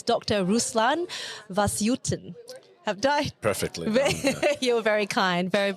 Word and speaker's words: Vasyutin: want to respect his names it's Dr Ruslan vasuten have died perfectly you're very kind very very